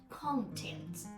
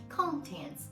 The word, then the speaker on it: content: content content okay so we stress on the second syllable as an adjective so I feel content